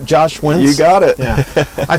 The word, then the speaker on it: Josh Wentz: Josh Wentz?